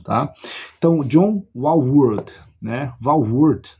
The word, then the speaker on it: Walvoord: Walvoord, né? Eu acho que é assim a pronúncia, é uma autoridade quando você fala de escatologia.